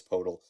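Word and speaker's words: Poeltl: a pick for purle I always call him purle I know it's portal I'm sorry listeners it's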